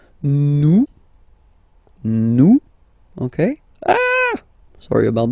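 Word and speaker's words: nous: one comes here it's new no okay ah sorry about that oops new some okay new okay so you don't pronounce the final s here it doesn't exist Su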